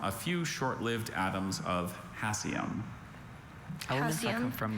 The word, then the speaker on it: hassium: Hassium is the only pronunciation I have.